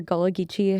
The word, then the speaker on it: Gullah Geechee: and your Gullah Geechee heritage. Am I pronouncing Yeah. that correctly? Mhm. Can you talk a little bit more about that? Yeah. So Gullah Geechee are the West African slaves that were brought to Charleston.